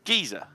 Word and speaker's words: geyser: Yeah, and you know how you say geyser in English? How? It's geezer. Geezer. Flame geezer. Oh, like geezer.